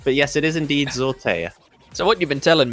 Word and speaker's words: Zortea: It is Zortea, as in with a Y, A-Y-A. Oh, it is? How you would like it pronounced. Zortea, yeah.